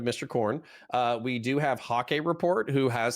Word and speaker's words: Hake: Is it hockey? It's Hake. Hake.